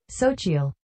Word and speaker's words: Xochitl: Sochiel. That's how you pronounce her first name, because it's spelled Xochitle Gomez.